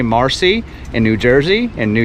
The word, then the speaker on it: Marcy: destroyed it not okay my name is Marcy m-a rcy Marcy if you live in New England my name might be like m-a-h-c-y if you